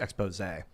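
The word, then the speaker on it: exposé: It's the expose. There's an accent on the last E, so it's pronounced expose.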